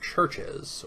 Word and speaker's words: CHVRCHES: so lastly we have the group churches or as it's spelled churches they're a kind of